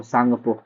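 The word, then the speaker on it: Tsangpo: सांगपो का spelling English में टी एस ए एन जी पी ओ सांगपो। ठीक है? टी साइलेंट रहता है।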